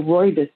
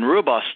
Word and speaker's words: rooibos: They show T and they show rooibos T.